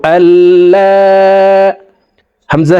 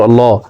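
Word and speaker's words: الله: মধ্যে মুত্তাসিল চার আলিফটা নিয়া পরিতয় হয় আশহাদু আললা হামজা হজই লাম জবর লা হা জবর হা ইলাহা আশহাদু আল্লা ইলাহা হামজা লাম জের ইল লাম লাম জবর লাল লাম খারা জবর আল্লাহ এখানে আল্লাহ শব্দের আগের হরফে জবর আছে।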